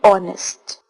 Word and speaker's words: honest: When we pronounce these words, H remains silent, and we relate article